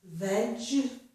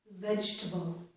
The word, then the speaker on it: vegetable: And in this word, it's the word vegetable, we normally do not pronounce that letter E in the middle of the word. So we pronounce this as vegetable, vegetable.